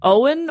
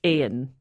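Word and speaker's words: Eoin: It's E-I-O-N, which can either be like Owen or like Ian.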